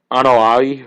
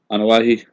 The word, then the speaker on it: Anoa'i: What's this about the Anoa'i? I think that's how Rikishi pronounced his family's name. Anoa'i.